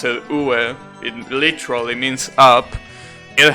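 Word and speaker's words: 上: There are kanjis like the kanji for up, which means it's pronounced ue.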